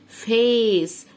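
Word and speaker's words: face: ايه انتقه باسمه واللي هو يبقى اقول معي فيس فيس فيس خلاص اتفقنا فيس بعد كده هنا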